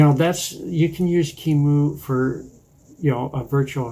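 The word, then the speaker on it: QEMU: recommending that you learn how to use kimu which is spelled q e m u and that's the that's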